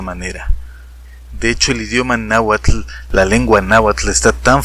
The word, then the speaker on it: náhuatl: que van a hacerlo, deberán pronunciarlo así, náhuatl, náhuatl, como lo estoy haciendo yo, y no como lo están haciendo los miles de nahuatlactos naturales que dicen náhuatl.